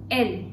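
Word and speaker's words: elles: date feminine that is L again S is silent as I told you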